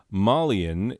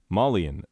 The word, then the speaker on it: Malian: Oh, by the way, Malian is the correct adjective form for describing a person from Mali. Malinese is objectively more fun to say, so that's what we went with.